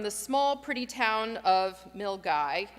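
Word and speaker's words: Milngavie: small pretty town of milgai and that's spelled m-i-l-n-g-a-v-i-e milgai we all had to work to make sure we knew how to say it so that we could get there it runs north from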